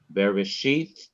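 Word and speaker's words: בראשית: In each of these three words in the beginning of the Bible, the last syllable of each word is to be stressed. Bereshith, bara, Elohim.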